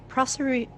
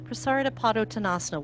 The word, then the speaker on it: Prasarita Padottanasana: So prasarita, it's not pronounced like margarita, though I want to. Prasarita Padottanasana, wide-legged forward bend.